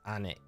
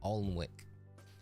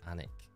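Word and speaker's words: Alnwick: mean I'm from a my hometown I always pronounce anik but a lot of people pronounce it because it's spelled a Ln Wick so it's alwick but if you're from there you pronounce anic which is uh yeah weird always got those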